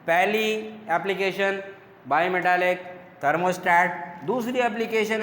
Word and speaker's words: थर्मोस्टैट: ठीक है, अगेन कह रहे हैं थर्मोस्टैट, not state, it is pronounced as stat.